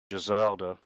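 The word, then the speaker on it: Jezelda: Did you say her name was Giselda? Giselda.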